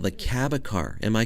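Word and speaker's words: Cabécar: with another tribe in costa rica called the cabacar am i correct how do you pronounce that yeah that's correct um shortly after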